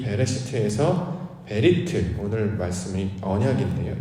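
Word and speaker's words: בְּרֵאשִׁית: 이것을 히브리어로 베레시트 이렇게 발음하는데요.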